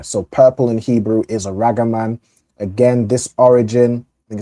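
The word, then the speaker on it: ארגמן: Aragaman correct?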